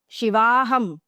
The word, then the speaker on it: Shivaham: So when it is a long sound at the end, it refers to Shakti. So Shiva, Aham, Shivoham means I am Shiva. Shivaham means I am Shakti.